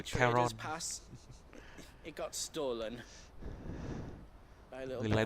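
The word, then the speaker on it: Charon: Giờ ở đây thì gọi là Karen nhé, nhưng mà nếu mà chơi trong Hades ấy, cũng tên y hệt, viết y hệt như thế, đọc là Caron.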